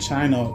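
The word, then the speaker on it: Qin: Chinese period in the Chin dynasty which is Q I N but it's pronounced chin like on your chin.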